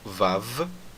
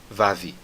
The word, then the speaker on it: Vav: Então, da mesma forma aqui, nós vamos pronunciar o Vav como Vav e não Vavi.